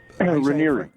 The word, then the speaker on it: Raniere: Raniere.